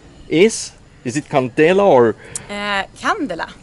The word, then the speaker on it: Candela: Candela. Candela. In Swedish. Okay, Candela. But we don't really care how you pronounce it as long as you know about it and know about the boat.